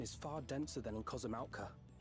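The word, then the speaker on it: Kozama'uka: The vegetation is far denser than in Kozamauka. That's how you pronounce it? Kozamauka? Not Kosamauka? I suggest you pay more attention to the ground, unless you want to walk straight into a cenote.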